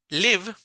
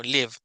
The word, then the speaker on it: live: Entonces en este caso Live palabra Live ya tiene una de las reglas que vimos hoy que es que la e es muda al final verdad Entonces no es Liv verdad sino Live Entonces yo puedo ir